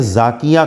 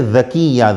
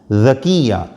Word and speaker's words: ذکیہ: کا معنی کیا ہے۔ آئی ڈی میں تو لکھا ہے ذاکیہ ، لیکن یہ صحیح ہے ذکیہ، ذال سے ذکیہ۔ ذکیہ کے معنی ہوتے